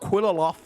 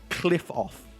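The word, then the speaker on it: Qliphoth: It's not Qlipoth, it's actually Qlipoth.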